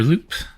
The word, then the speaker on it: loup: 9 days ago, La Herde de Loup invaded my younger sibling's den and brutally killed 2 families. 3 days ago, approximately the Index laid waste on our neighbors. The P is silent.